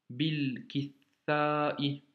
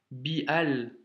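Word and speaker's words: بالكتاب: Donc on fait la liaison. Donc bil, kithai, bil, kithai. Ok? Et non pas bial, parce que ça peut pas aller, c'est dur à prononcer en plus. Bial, kithai. Tu vois? Donc on fait bil, kithai.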